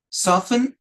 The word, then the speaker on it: soften: soften yes uh this one H this one soften and written soften and written okay so this